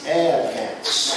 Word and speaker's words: Advance: advance in north carolina advance is a two-syllable word it's advanced all right ladies and